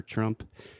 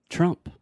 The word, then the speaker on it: Trump: with the pronunciation of Trump. His name. Yeah. So the most interesting thing here for me is the TR sound in English is totally different from the TR sound in Portuguese.